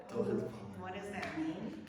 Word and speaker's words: Torre de Palma: I want to make sure I'm pronouncing the name of your vineyard correctly. Torre De Palma? Torre De Palma. Torre De Palma.